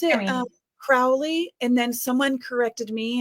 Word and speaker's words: Crowley: Crowley, because it was so funny because like when